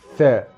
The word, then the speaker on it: ث: We can see the basic form of the letter tha. Tha is pronounced like th in think.